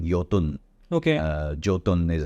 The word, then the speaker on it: Jotun: channel uh 10 years ago Norway's Monopoly called yotun okay uh jotun is how they spell it is how they pronounce they came in